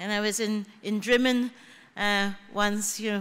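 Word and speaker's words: Drymen: I was in in dman uh once you know which is spelled spelled dry men but pronounced dman but there's lots of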